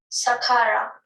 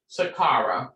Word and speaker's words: Saqqara: And let me make sure I'm pronouncing that word correctly as well. Saqqara. Saqqara.